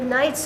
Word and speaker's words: Knights: in the string KN do you hear the k the Knights of England k-n-i-g-h-t there's a big one the two